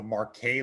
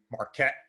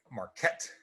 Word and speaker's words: Marquet: them is called the marquet leadership ladder this was developed by david marquet marquette the way it's pronounced sorry about that not marque marquette turn the ship around